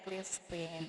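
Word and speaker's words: clrscr: Oke, clear screen, tulisannya CLR SCR. Ini susah nih ya, tapi dibacanya clear screen.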